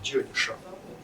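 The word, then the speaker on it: ज्योतिष: Итак, слово джиотиша на санскрите, это произносится так, джиотиша, образовано от слова джиотис.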